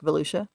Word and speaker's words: Volusia: You know how to pronounce that one? No, but Volusia. Sounds like Volusia.